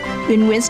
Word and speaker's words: Nguyen: She's also launched the fashion brand Nguyen Nguyen, which is how her name is pronounced, to introduce her unique designs to people everywhere.